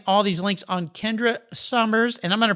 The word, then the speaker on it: Sommer: these links on kendra summers and i'm going to pronounce or been a speller name i should say i pronounce it summer but it's s-o-m-m-e-r apparently it goes back